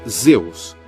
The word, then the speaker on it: Zeus: tempestade era de aos em grego pronunciava-se Zeus o nome you